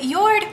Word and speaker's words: Jord: Now, I am in a partnership right now with Yord Watches. It's spelled J-O-R-D, but it's pronounced Yord Watches, and this is my beautiful watch that they sent me, and it is really gorgeous.